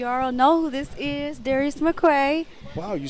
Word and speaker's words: Darius McCrary: Awards with we all know who this is Darius McQuay wow you said it right what people say your name wrong yeah it's been for years our senior